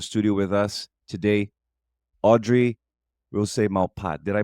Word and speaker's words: Rousse-Malpat: with us today, Audrey Rousse-Malpat. Did I pronounce that correct, Audrey? Yeah, the French way you could say Rousse-Malpat. Rousse-Malpat. And my like in Rousseau.